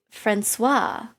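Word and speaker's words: François: The C in that word is pronounced as an S, so soupçon. Similarly, Francois.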